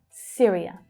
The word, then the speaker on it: Syria: The Y makes a short vowel sound, I. Syria.